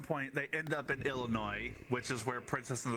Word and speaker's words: Illinois: those things geography what's this Kong bangled garage ill noise is where the the Nepal plushy lives you forgot all your knowled and that's also where mu is no can make you ill it's pronounced Illinois sir I come from Indiana I'm I'm now